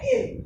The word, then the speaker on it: aisle: उसके बाद आया ये AISLE, इसको प्रोनाउंस करते हैं इल, ठीक है।